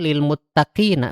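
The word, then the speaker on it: للمتقين: Nah, ini jadi kan itu akhir ayatnya itu kan lil muttaqina sebetulnya seperti ini. Lil muttaqina. Muttaqina. Nah, ada nanya. Cuman karena kita bacanya wakaf jadinya panjang kan. lil muttaqin. Nah, seperti itu.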